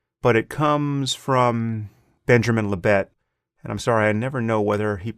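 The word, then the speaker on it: Libet: sorry i never know whether he pronounced his name benjamin labay or benjamin lebet he's no longer alive uh to to consult and i only ever see it written but i'm gonna go with lebet benjamin lebet who famously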